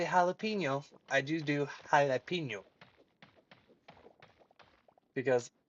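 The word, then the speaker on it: jalapeño: And yes, when I say jalapeno, I do do jalapeno because that is the correct pronunciation of jalapeno.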